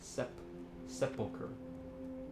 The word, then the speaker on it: Sepulcher: Sepulcher. Emphasis on the first syllable.